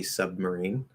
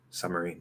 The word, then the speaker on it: submarine: out b um if we do like a stop b submarine or it's not completely stop it's a held stop not a global stop submarine submarine um that would be like the standard fully pronounced way to do it um can you completely drop the b and just do the m submarine submarine submarine in faster speech yes no b at all just damn summer